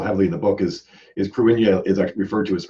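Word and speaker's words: Cruithne: There, by the way, was the correct pronunciation of the word that looks like Kruithni. Yeah. It's actually Kruinya.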